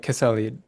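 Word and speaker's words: Quesalid: a Kwakwaka'wakw shaman named, I think it's pronounced something like Kesalid.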